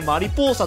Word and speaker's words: マリポーサ: あとねこれね王朝と書いてマリポーサと読むねあの最後の